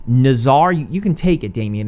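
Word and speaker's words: Nazaré: It's Nazare. You can take it, Damien. It's Nazare.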